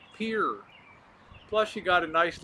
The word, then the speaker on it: Pierre: I pronounced Pierre, South Dakota. Everybody thought I would call it Pierre. Yeah, you got to be like a local, right? Pierre.